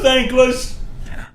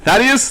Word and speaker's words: Thaddeus: Hello, thankless. It's pronounced Thaddeus, thank you.